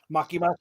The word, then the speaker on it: Makima: How you pronounce it? Makima? All I know is she has the best power yet. Makima.